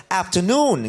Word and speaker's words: afternoon: Good afternoon afternoon ganon the accent Falls on the last syllable afternoon Good afternoon meam meam